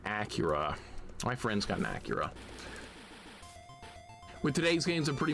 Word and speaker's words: Akira: In regards to the Ryu topic of pronounce Akira is Acura and not the more popular US pronounce pronunciation of Akira.